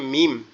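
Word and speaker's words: ميم: ঠিক আছে, তাহলে আর মিমটা উচ্চারণটা কোথায় হবে? মিমটা আমাদের দুই ঠোঁট একত্রে লেগে ঠোঁটের নরম জায়গা থেকে উচ্চারিত হবে, মিম মিম এরকম ভাবে।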